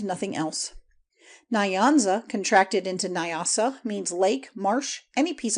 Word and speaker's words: Nyasa: Nyanza contracted into Nyasa means lake, marsh, any piece of water or even the dry bed of a lake. The N and Y are joined in the mouth and never pronounced separately.